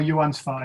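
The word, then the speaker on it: Joann Sfar: Joan Svar or Johan Svar, it depends. But Okay. Joan Svar most of the time.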